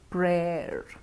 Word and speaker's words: prayer: Next, dare, dare, dare, dare, wear, wear, and the last word, prayer, prayer. So what we need to note here is that there is a habitual mispronunciation or a confusion with the sound ear, which we use in here, mere.